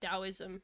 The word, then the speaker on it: Taoism: It's pronounced Taoism.